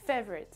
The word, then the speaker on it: favorite: Donc c'est favorite, favorite. Et donc vous avez l'accentuation sur la première syllabe, c'est-à-dire qu'on entend plus la première syllabe, fave, et tout le reste en fait qui suit, on l'entend moins. Donc favorite, favorite, favorite.